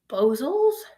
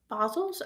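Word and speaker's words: bosals: I think they're called bozels. Basilles. I don't know how to pronounce it. It's like B O S A L S.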